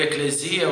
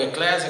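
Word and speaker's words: ἐκκλησία: Essa palavra vem do grego, eclesia ou eclésia, cada um fala com uma pronúncia.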